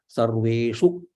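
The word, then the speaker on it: सर्वेषु: Bhuteshu, Sarveshu, Sa Rasva, Rve is Dirgha, Shu is Rasva, Sarveshu.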